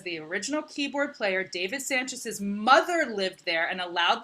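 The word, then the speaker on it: Sancious: sanchez sanchez sam yes well it's pronounced it's spelled like s-a-n-c-i-o-u-s weird it's still i think it's still sanchez sanchez okay yeah original keyboard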